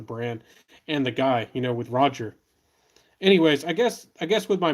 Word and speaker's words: Roja: Nose says you pronounce it as rubber duck. You pronounce it as rubber duck. Its name is Roger.